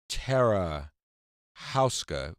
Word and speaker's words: Tara Houska: Marsh coming up is Tara Houska well first of all ter am i pronouncing your name correctly you are welcome how are you